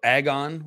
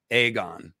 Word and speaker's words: Aegon: think that's the idea aegon would be the uh or agon would be the irish pronunciation yes the aegon sucks has to be a hard a aegon viserys yeah yeah king